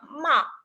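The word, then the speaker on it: 骂: Y al final, la sílaba ma en 4 tonos, descendente, abrupto, en la entonación de una orden, significaría regañar. Ma.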